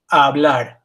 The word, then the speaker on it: hablar: There is no sound to an H. So this is not hablar, it's hablar. Take your hand, put it over the screen over the H, and say it.